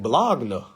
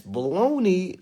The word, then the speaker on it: bologna: She said that's baloney. I'm like, what? It's a G. Bologna. No, that's baloney. The G is silent.